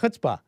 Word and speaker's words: chutzpah: Chutzpah.